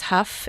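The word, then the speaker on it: Hough: name yeah yeah my maiden name is Huff h o u g h you can't imagine the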